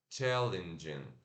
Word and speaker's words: challenging: Eu sei que é escrito com E, mas a gente tem que falar com I curto, tá? Não é challenging, não é challenge, é challenge, challenge, challenging. challenging, Isso aí, gente.